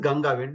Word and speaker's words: Ganga: ganga simple Ganga but it's not Ganga it's Ganga then you have to pronounce from your know the the the base that and then the sound will come from the nose also ga ganga you